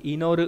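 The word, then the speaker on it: 祈る: Âm cương là ino, ví dụ trong từ inoru là cầu nguyện. O inori là lời cầu nguyện. Âm ôn đọc là ki, ví dụ trong từ kinen không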